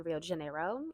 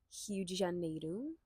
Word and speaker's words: Rio de Janeiro: girl who lives in Rio de Janeiro, or Rio de Janeiro. Everybody hates it when I don't say it right because I'm Brazilian and I lived there.